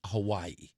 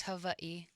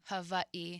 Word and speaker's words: Hawaii: Yeah, we say Hawaii. That's the rest of us. Well, the proper way is Hawaii. Who? Hawaii. Were you German? In Hawaiian, the W is pronounced like a V.